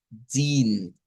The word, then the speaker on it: den: Pero en ese caso, si lo vamos a utilizar como el artículo, en el idioma Deutsch, debe ser como I, din, din. Es el sonido que debemos de utilizar.